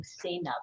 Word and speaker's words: Sainab: I pronounce his name Sainab, remember?